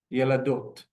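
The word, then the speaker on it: ילדות: Daled, we can see immediately has the vav with the cholam next to it. So ye la do, followed by the taf, ending it, yeladot, yeladot, which means girls.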